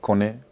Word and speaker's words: Koné: It's Koné because my last name isn't American. My last name is French, so there's an accent on top of the E, so it's Koné. It's pronounced Koné.